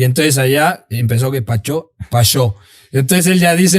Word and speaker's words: Pacho: está cagadísima de del Paris Saint-Germain, pues es Pachó. Pachó Pacho. Sí. Y entonces allá empezó que Pachó Pachó.